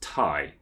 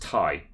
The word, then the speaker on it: Ti: nvidia said it's pronounced thai but it was short for titanium yes thai i'm serious